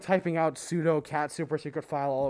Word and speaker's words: sudo: It literally means super user do, sudo, or sudo. Some people pronounce it that way, but I think they're weird.